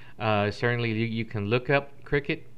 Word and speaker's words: Cricut: you can look up Cricut, which is not spelled like the insect, so don't be fooled.